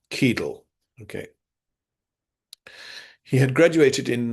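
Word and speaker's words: Cadel: By the way, if you're only listening, it's spelled uh C A D E L. Keel.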